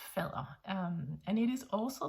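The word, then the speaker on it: faddere: will be called fella it has nothing to do with father or far it's fella with 2DS f-a-d-d-e-r-e-r pronouncing them as softish they are in charge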